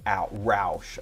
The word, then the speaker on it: Roche: Bill said Roche is pronounced like Roush.